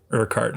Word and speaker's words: Urquhart: Rigav, you had just asked about the pronunciation on this. Lonnie Urquhart, right.